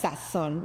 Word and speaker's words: Sazón: and Sazón is con Z. Yeah. En la O. Sí, y acento en la O, pero Instagram doesn't let us put the tilde, porque, pero it's Sazón, yes.